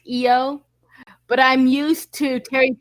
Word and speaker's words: Io: i muted it ah eo okay is it pronounced eo yep but like i said in terry pratchett it's pronounced io so i might switch between the two accidentally